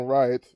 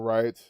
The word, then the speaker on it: Wright: Ron Wright. This not even, I know you don't even pronounce this W, I know that, but still, I just can't say it.